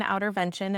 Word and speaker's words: Outrvention: for the listeners that it's actually spelled OUTR Okay. Vention. Yep. So it's spelled a little differently. There was already Yeah. an Outrvention, and I think they are fantastic. If you land there, that's fine too. But I am Outer OUTR Vention.